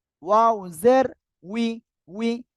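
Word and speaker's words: وِ: জের নি, ওয়াও জের উই, উই। এ অক্ষরের উচ্চারণ অনেকের ভুল হয়। এখন দেখেন কিভাবে উচ্চারণটা করবেন। ওয়াও জের কি উই, ইংলিশ উচ্চারণ দেখেন ডাব্লিউ ই, উই, উই মানে কি আমরা।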